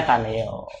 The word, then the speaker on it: Caneo: Ya lebih bagus kan Caneo, tapi bacanya Kaneo.